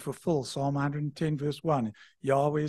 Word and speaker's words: Yahweh: by some is Jehovah the more correct pronun pronunciation is Yahweh it's the highest name of God the Lord